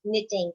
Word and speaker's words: knitting: It's knitting. And what is silent? K, correct.